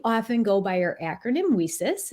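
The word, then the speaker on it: WiCyS: go by our acronym whisis it's spelled w-i-c-y-s and we pronounce that whisis like we sisters because that's exactly what we are we are a global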